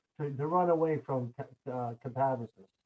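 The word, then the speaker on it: katabasis: not to run away from catabasis. I hope I'm Yeah. pronouncing that right this time. I used to say catabasis until Steve corrected me.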